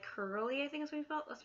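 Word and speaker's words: Kerli: that kind of cyber goth i also like curly i think we felt let's pronounce it like k-e-r-l-i she's pretty awesome i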